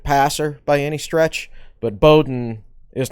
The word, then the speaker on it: Bowden: It's spelled Bowden. It's pronounced Bowden. Pronounced Bowden.